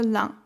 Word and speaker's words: Ain: 50 years ago, a dam was built on the river Lyon. Yes, pronounced like the number 1 in French, where it powers its energy.